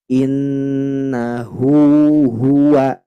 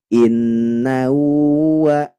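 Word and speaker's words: إنه هو: hu ini hu jadi harus sama sifatnya innahu Hua tidak boleh innahuua nah itu jadi uua diseret namanya tidak boleh seperti itu ya ini menjadi catatan kita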